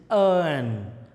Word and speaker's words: urn: Spelling is U, but pronunciation is earn.